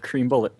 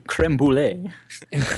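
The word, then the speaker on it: crème brûlée: All told, so- the trials and tribulations of Cream Bullet. Pronounced Cream Bullet, and then corrected to Creme Brulee.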